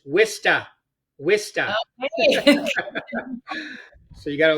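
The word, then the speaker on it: Worcester: How would you pronounce that? Most people Warsester, right? Not in in New England, it's Wista.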